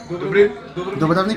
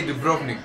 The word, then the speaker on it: Dubrovnik: First of all, I think that I would prefer to come to Dubrovnik? Yeah. I can say Dubrovnik, but Dubrovnik. it's pronounced differently, right? You can say that. You can say that too?